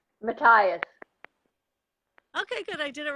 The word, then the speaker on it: Mateus: know I think I'm always pronouncing your last name wrong mattias okay good I did it right so it